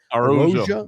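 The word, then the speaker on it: Araújo: Araujo.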